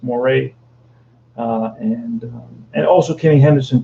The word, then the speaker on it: Moret: in a roger moray i think you pronounce his name or moret in english is probably moret than french it's moray and and also kenny